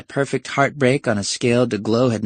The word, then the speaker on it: DeGlow: Despite a suddenly dry throat, he managed, "Not de-gluff, de-glow." Icon of pulchritude #1 blinked prettily. "Excuse me? Not D, but day. Not gluff, but glow. De-glow." Her limpid eyes widened. "Your name is pronounced Day-glow?" Correct."